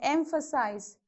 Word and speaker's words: emphasize: So whenever there is IC, again the same rule follows from the end, second.